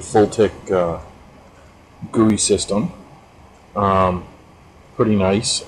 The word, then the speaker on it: FLTK: uh a quick test of using the full tech or fltk as they pronounce it full tech gui system um pretty